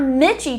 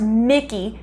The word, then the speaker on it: Michie: up the pronunciation and it's not mitchy tavern even though it is phonetically spelled that way it's actually pronounced mickey tavern so we'll start calling